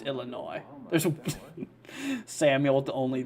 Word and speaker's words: Illinois: area here um overall and S is silent gotcha so it's Illinois there's Samuel with the